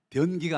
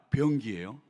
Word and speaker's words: 병기: 발음 잘하셔야 돼요. 이응자 발음입니다. 변기가 아니라 병기예요.